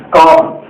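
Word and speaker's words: calm: அடுத்தது பாருங்க அமைதியான காம் அமைதியான காம் இங்க எல் சைலென்ட் பாருங்க l இருக்குல்ல இந்த l இங்க l இங்க சைலென்ட் இதை உச்சரிக்க கூடாது காம் தான் சொல்லணும் சைலென்ட் சரி அப்ப இங்க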